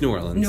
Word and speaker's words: New Orleans: in I'm sorry I should just say it nollans not it's New Orleans we don't like knowing when you spell it in awl IMS it's trying to be